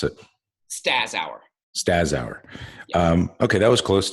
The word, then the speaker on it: Staszower: Staszower. Yeah. Okay, that was close too. That was good too. Good job. Yeah. Good job Sound like you pronouncing. put an H in there.